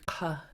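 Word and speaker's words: ḵa: I'm glad you asked that because you need to make sure when you're saying and that you're pronouncing it in the back of your throat.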